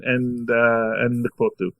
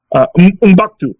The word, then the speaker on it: M'Baku: Ship the heck out of Shuri and Mkbudu. And I'm pronouncing his name wrong, I know. M'Baku. That's his name, M'Baku.